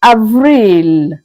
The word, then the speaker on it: avril: April is pronounced as Avril. Avril.